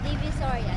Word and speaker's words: Divisoria: Yeah, Divisoria.